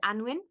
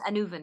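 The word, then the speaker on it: Annwn: because another word for the other world is anwin or it's pronounced anven actually that's the corre correct pronunciation but it's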